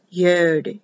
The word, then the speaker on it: Yod: baby, TE or T, YOD, YOD, the Y or I, which is pronounced like an E, this is the power letter, the power of the right arm.